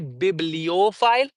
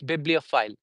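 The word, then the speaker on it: bibliophile: say biblophile we say we don't say biblopile biblopile is wrong it's biblophile biblophile so file we know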